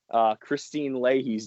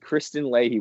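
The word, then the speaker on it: Kristine Leahy: a few other people i mispronounced christine Leahy's name i said Kristen Leahy when I brought her on the air and luckily we were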